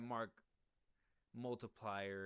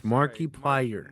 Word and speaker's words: Markiplier: I don't know that Mark Multiplier or anything, but Markiplier. All right. Do you want the fans to come after us? You got to say his name right. It's Markiplier.